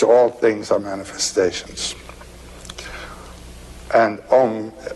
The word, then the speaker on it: Om: things are manifestations and om it's a it's a wonderful word it's written a u m you start in the back of the mouth ah and then ooh you fill the mouth and um closes at